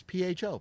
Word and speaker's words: Pho: That is this week's Funny Farm fuckery, and it's PHO, pronounced pho. Pho. There you go. Like the Vietnamese food.